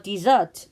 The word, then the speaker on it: dessert: We also have a dessert. 제발 이거를 데저트라고 읽지 않았으면 좋겠어요. 왜냐면 데저트가 뒤에서 나오거든요. 디저트는 S가 2개. 그랬을 때는 너희가 생각하는 그 디저트가 맞습니다.